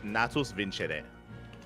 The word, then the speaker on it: Natus Vincere: Okay, it's apparently in Latin it's natus vincere.